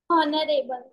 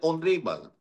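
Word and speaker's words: honourable: हॉनरेबल। होनोरेबल नहीं होता बेटा, दिस इज एन ऑनरेबल। ये होनोरेबल नहीं होता है, this is एन ऑनरेबल। This is एन ऑनरेबल। एचओ, इसमें एच से इसमें साइलेंट होगा।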